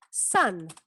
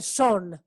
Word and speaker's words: sun: No es a, como la a, no es cat, no es cap, no es hat, es más bien a, like sun. Sun, que es el sol. ¿Ok? O hijo. Sun, es la misma pronunciación. Sun. No se dice son. ¿Ok? Se dice sun.